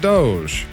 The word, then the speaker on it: DOGE: a past show, yes, I know they pronounce it Doge. However, I don't speak Latin. I speak redneck, and I'm gonna pronounce it Dodge. Or, if you guys prefer, I could pronounce it doggy.